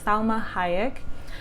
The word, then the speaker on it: Salma Hayek: to be saw majimak Hayek I said her name wrong Salma Hayek and my best for the Oscar Cynthia really